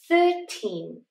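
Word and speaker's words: thirteen: 13. 13. Teen is the strong sound.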